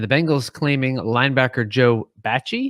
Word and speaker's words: Bachie: bengals claiming linebacker joe bachie is that how we're pronouncing i think it's beijing beije b-a-c-h-i-e again joe sorry for